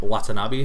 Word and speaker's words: Watanabe: Shinichiro Watanabe. I don't know if I'm pronouncing that quite right. Watanabe, you got pronounced right.